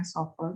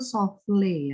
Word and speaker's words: soufflé: Lalu sofel atau soufflé, itu ada alat yang kecil seperti mangkok namanya sofel. Ini dari bahasa Perancis. Kalau Perancis itu soufflé ya. Ya bacanya ya, ada yang menyandarkan soufflé, bisa sofel, bisa souffle dish.